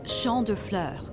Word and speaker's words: Champs de Fleurs: It's Champ de Fleurs.